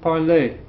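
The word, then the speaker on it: parlez: pronounce them the same the only two things that we pronounce are these two nu parloum vu parlay that sounds the same as the infinitive parlay parlay okay the easy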